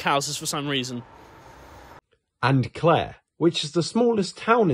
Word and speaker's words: Clare: And Clare, which is the smallest town in Suffolk and rhymes with chair.